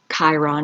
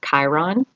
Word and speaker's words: Chiron: encountered we all have chiron somewhere in our charts you can look for the little k uh even though it's spelled with a ch riddle me this um